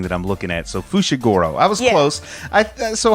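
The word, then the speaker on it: Fushiguro: that one's pretty easy fujigoro uh sounds close i think it's fushigoro yeah i said it with a j but it's spelled with an f with an sh i'm like looking at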